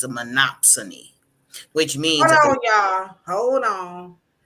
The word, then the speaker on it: monopsony: that's a tongue twister m o P like Monopoly like Monopoly but it's a monopsony oh there it is